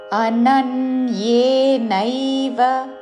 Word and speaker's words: అనన్యేనైవ: మత్పరాః మయి సన్యస్య మత్పరాః అనన్యేనైవ అనన్యే నా మీద ఆఘాత అనన్యే నైవ నేవ అనకూడదు. నైవ అనన్యే నైవ యోగేన యోగే రెండు దీర్ఘములు చివరిలో న హ్రస్వము.